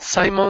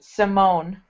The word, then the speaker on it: Simone: It's pronounced Simone. If there's no E at the end, Ah, Simon. But with an E, it's Simone.